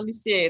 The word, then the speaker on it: Lussier: Lussier.